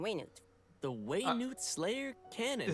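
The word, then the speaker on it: Wayne-Wood Slayer Cannon: and repel the wandering Wayne the way Newt Slayer cannon that's how you're supposed to pronounce it Way new it's quite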